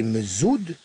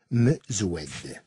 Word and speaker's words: Mezoued: Pour les uns, c'était Mezoud, pour d'autres, Mezoued, voire carrément Merzoud. Bref, c'était un peu compliqué. Avec le temps, j'ai fini par accepter ce nouveau nom, et même à le défendre. Je fais toujours attention à ce qu'il soit bien prononcé.